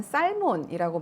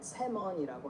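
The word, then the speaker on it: salmon: 그래서 앱으로 들어가서 그다음 여기를 켜겠습니다 영어로 연어를 발음하고 싶어 나는 살몬이라고 말을 했다가 구박을 받았는데 영어로 연어를 어떻게 발음해 영어로 연어를 발음할 때 살몬이라고 발음하는 대신 세원이 발음하는 것이 맞아요은 발음하지 않으니 새먼이라고 하면 됩니다 먼네 사원처럼 들릴 수도 있지만 정확한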